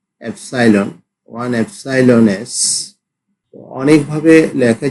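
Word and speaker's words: epsilon: one belongs to এস one member of member of এস ওয়ান এসাইলন এটা Greek বর্ণমালা এটা actually এটার উচ্চারণটা এসাইলন ওয়ান এসাইলন এস অনেকভাবে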